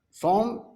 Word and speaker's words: Psalm: Psalm P-S-A-L-M. In this word, the letter P and the letter L is silent.